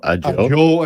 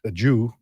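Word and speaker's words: Ajou: Joe A. Joe Ajo. It's a j o u and it's a joe a joe. Oh, cool. Yeah. And some people pronounced it a Jew before and he was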